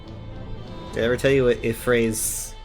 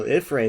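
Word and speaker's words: Y'ffre: I would Do they really pronounce Y as I? I would assume so because that's how Ifray is pronounced. Yeah, that's a fair point. So I would assume that it's probably Ifray.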